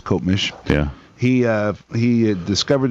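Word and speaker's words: Copemish: do you say that cop Mish cop how do you say that town you know that's one that's always right in there me Coop Mish I think it is kop mish yeah he uh he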